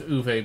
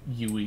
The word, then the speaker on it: Uwe: I know it's pronounced Uwe, but I find it funnier to call him Yui just because it amuses me.